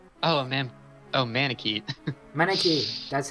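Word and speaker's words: Manakete: Manakite, that's how you pronounce it.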